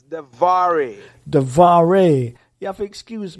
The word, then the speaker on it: DeVaré: Am I pronouncing the name right? It's DeVaré.